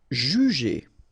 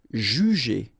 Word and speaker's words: juger: Alright, so first you've got this J and U, ju, and then you get G and E here. So normally the sound when you combine the two, it's j, j, but then ER at the end, E.